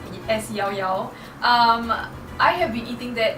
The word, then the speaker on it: Llao Llao: and it will have to be Llao Llao, or I would like to call it irritatingly Llao Llao because it's spelled L-L-A-O-L-L-O-O, but it's correctly pronounced as Llao Llao.